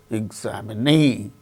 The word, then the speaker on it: examine: See, for instance, examine, examinee, examine. In the case of the word examine, second syllable gains stress.